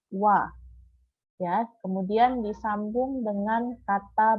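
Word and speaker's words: は: Jadi kata benda satu kita tambah dengan partikel H, tapi partikel H ini dibacanya adalah wa.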